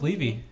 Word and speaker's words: Levy: mispronouncing your last name it's leevy how about that what' you think it was kind of like Eevee the Pokemon I you know I don't